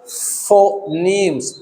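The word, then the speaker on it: phoneme: का साउंड अलग है तो हम क्या बोलेंगे इसको फनीम्स ऐसे लेकिन इसका जो सही उच्चारण है वो है फनीम ये हमने पढ़ लिया फनेम्स।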